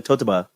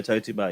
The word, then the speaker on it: toe to bar: Well, when you say it like a normal person, you're saying Toto bar. Oh, I got Toto bar. Like toe to bar? Yeah, no, toe to bar, yeah.